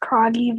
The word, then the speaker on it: Croggy: hello welcome hey um first of all it's pronounced croggy but don't feel bad no one can say my last name right thank you if you